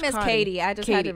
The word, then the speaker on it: Khadi: we all say Khadi. Yeah. She definitely said Katie on her video, and I forgot. Her name is Khadi Don, but it's spelled KHADIDON. Black people being creative.